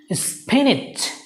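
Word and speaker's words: spinach: সো the correct pronunciation is স্পিনিচ, স্পিনিচ, স্পিনিচ। দেখো তোমরা এখানে এন এর পরে কিন্তু আই নেই, কিন্তু তারপরেও তোমাকে উচ্চারণ করতে হবে।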